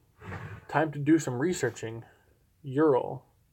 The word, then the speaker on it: Ural: Ooh, I can get a Ural, that's how you say it, for 2007 Ural Patrol for $5,600.